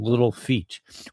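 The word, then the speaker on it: Little Feat: she basically focuses on Little Feet which is spelled F E A T Little Feet L George.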